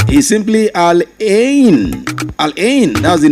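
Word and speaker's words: Al Ain: Some said I' some people have called it alian. Alon it is spelled a l a i n is simply alen.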